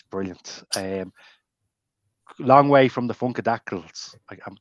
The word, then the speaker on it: Funkadactyl: Long way from the Funkadactyls. Did I pronounce that right? Funkadactyl? Yeah.